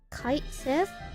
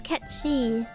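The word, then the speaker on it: Cait Sith: Kite Sith? No, that's not how you pronounce it either. How to pronounce... It's Ketchi.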